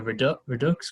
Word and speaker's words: Redux: um his team is called is it the redux group how do you say it regardless redox yes okay redux group uh which sold uh